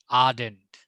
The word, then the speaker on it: ardent: जैसे army, आर्डेंट, आर्ट, वहां में जो AR का प्रोनाउंसिएशन होगा वो R नहीं होगा, वो R होगा। मतलब एक H बीच में आ जाएगा, ऐसा साउंड आना चाहिए, R, आर्मी। ऐसा नहीं कि आर्मी, आर्मी। आर्डेंट, आर्डेंट नहीं, आर्डेंट नहीं, आर्डेंट। आर्ट नहीं, आर्ट। लगना चाहिए कि जैसे वहां पे बीच में एक H बैठ गया हो, आर्ट।